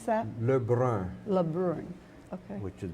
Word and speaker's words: Le Brun: How did you pronounce that? Le Brun, Le Brun.